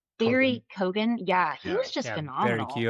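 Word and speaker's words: Barry Keoghan: Uh is it pronounced Barry Kogan? Yeah, he was just phenomenal. Barry Kogan. Kogan.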